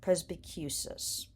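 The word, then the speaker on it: presbycusis: So it's pres as in president, B as in bumblebee, Q as in barbecue, and the stress is on the Q syllable, and cis as in sister. So presbicus.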